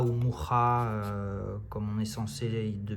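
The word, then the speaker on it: Mucha: Parce qu'à l'inverse d'un créateur comme Moucha ou Moucha, comme on est censé de mémoire le prononcer en tchèque, hein, puisqu'il était tchèque de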